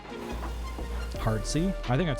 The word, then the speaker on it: Arceus: a remake best debate Arceus with hard C or silent c still yeah I've not